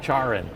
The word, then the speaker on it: CharIN: I say it like a Frenchman, CHARIN, Yeah.